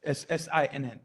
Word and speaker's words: Sinn: Did I pronounce it? S-I-N-N, correct? It's SINN.